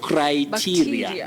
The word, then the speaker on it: criteria: Criteria. Not criteria, criteria. Criteria, not teria.